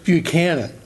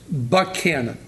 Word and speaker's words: Buchanan: mason-dixon line it is buchanan as in president james three canada pennsylvania south of the mason-dixon line it's buck cannon as in franklin buck cannon and buck cannon